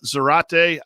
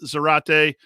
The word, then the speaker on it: Zarate: guys rock um also my last name rhymes with karate i guess so just in case there's any question on pronunciation i should read the script uh so that is zach uh zarate uh thanks uh